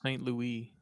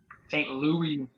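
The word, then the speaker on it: St. Louis: fly into St Louis yeah it's pronounced Saint Louis Saint Louis the crackhead capital of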